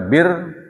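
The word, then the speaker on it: بِرّ: Kalau dibaca bir, ini artinya yang kita akan bahas, yaitu kebajikan.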